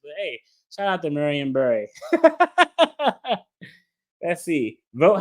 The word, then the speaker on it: Marion Barry: I love to hear people from DC say Marion Barry. What's wrong with that? Because, if you're from DC, you say like Marianne, like it's Mary and Barry.